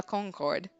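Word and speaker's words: Concorde: idea what he's even talking about um my pronunciation must have been off it's called the pl de la Concord it's where King Louis the 16th was executed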